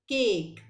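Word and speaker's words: cake: इन words में आपने क्या नोटिस करना है कि ए की साउंड के साथ ई साइलेंट लगने के बाद यहाँ पर इसकी साउंड हो गई ए.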